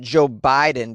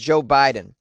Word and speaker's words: Jo Baiden: guess you pronounce it joe biden because the b-a-i is pronounced with a hard eye so it is pronounced joe biden yutaka umeda age 73